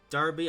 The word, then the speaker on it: Derby: Yes, it's pronounced Derby, not Derby, so yeah.